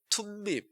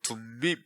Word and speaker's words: 둠밈: 그 다음에 이게 툼밈, 우리말로는 둠밈 이렇게 돼 있는데 사실 이제 T 발음이 맞아요.